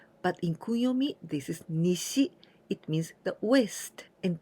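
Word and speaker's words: 西: means the East and this one here we pronounce se but in kuyomi this is Nishi it means the west and together we discardio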